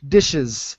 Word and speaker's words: dishes: ditches all right shh dishes very good you didn't pronounce this when you said it the first time the es the dishes all right and this